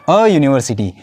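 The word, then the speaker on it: university: यूनिवर्सिटी का आगे कौन सा होगा? यूनिवर्सिटी का उच्चारण होता है यू से होता है। तो हम यहां पर करेंगे अ यूनिवर्सिटी।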